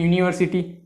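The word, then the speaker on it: university: आगे लगा देंगे, एन यूनिवर्सिटी। लेकिन जो कि गलत है, क्योंकि उसका प्रोनाउंसिएशन, उसका उच्चारण ये होता है य से, और यह आता है एक व्यंजन में।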